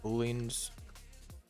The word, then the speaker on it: Boolean: Not to mess around with booleans. I really want to know if I'm saying this word right. Boolean.